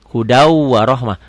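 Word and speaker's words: هدى ورحمة: Ditulisnya hudan warohmah, dibacanya hudau. Di atas wawunya ada sidahnya, ada tasjidnya. Hudau warohmah. Tulisannya hudan, bacanya hudau. Idgham bi gunnah. Kenapa? Karena tanwin, karena patah dua, patah tan ketemu waw. Tulisannya hudan warohmah, dibacanya hudau warohmah.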